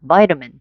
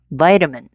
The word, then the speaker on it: vitamin: 앞에 강세를 줘서 두 번만 vitamin 한 번 더 vitamin 오케이 지금부터 이제 비타민 요렇게 안 들린다는 걸 요렇게 연습해 주세요.